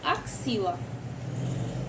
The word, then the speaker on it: axila: É o KS, que temos aqui como exemplo axila.